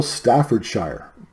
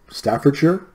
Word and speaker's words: Staffordshire: fifty it is Royal Staffordshire Staffordshire Staffordshire not Staffordshire I'm Canadian I should know how to pronounce British names Royal Staffordshire pottery it